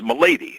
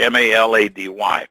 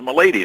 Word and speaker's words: Malady: is strong so um the name has always been mispronounced i mean you see people as malady melody i mean there's all sorts of uh pronunciations but the actual the the real it said is milady so anyway when i